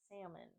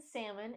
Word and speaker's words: salmon: a in this word the a in Salmon is pronounced like the a in cat hat salmon salmon we are